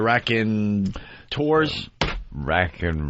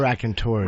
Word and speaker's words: Raconteurs: night with Jack White's brand new band, the Raconteurs. Raconteurs. How do you spell the last part of it? EURS. I believe it's tours. Probably Raconteurs.